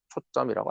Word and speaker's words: 초점: 쓰고 발음은 초점이라고 한다. 자, 초점.